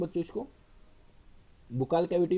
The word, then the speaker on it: buccal: Teeth of बुक्कल cavity, बक्कल cavity भी बोलते हैं बच्चों, इसको बुक्कल कैविटी भी बोल देते हैं कुछ टीचर्स. प्रोनाउंसिएशन बच्चों ऐसी है बक्कल कैविटी.